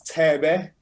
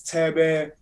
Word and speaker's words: Thebe: When I'm 6'7", the only thing I'm really hearing is Tebe, which is spelled Thebe. He's a legend, a Kwaito legend, but it's more dance. It's like house. So it's Tebe, Boom Shaka, TKZ.